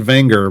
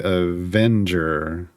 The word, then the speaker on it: Avenger: it in chat uh some people call it vanger but in the show they say Avenger is in like Revenge yes Avenger uh here we